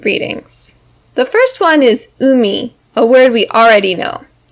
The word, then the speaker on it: 海: has two important readings the first one is umi a word we already know this kanji is